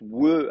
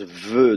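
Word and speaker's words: ו: Le vav lui-même est une bilabiale. Il se prononce we à l'époque. Aujourd'hui, on le prononce ve, donc comme une labiodentale. Mais ça, c'est la prononciation moderne, ve, du vav. Avant, il se prononçait we.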